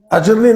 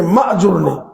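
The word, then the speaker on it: أْجُرْنِي: اجرنی پڑھتے ہیں، اجرنی، یہ اجرنی نہیں ہے، ماجرنی، یہ الف یہاں ساکت ہے، حمزہ قطعی نہیں ہے، وصلی ہے، گر جاتا ہے۔ اللہم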